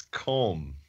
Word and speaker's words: comb: talking about what it's comb comb it takes more effort to pronounce the be at the end of that word then you're then is